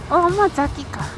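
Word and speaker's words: 大間崎: Nó dường như được phát âm là "OMAZAKI".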